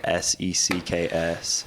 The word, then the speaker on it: SECKS: It's sex, but it's spelled Wait, hold on. So S-E-C-K. you got merch out or coming out or? I'm helping him with a brand, and it's called SECKS.